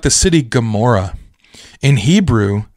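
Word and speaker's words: Gomorrah: city gamor in Hebrew that g is not a a hard G necessarily so that letter is is giml which is a hard G but this is spelled with a letter called an Ain so it's more like Gora right it's like the back of the throat G and this Ain can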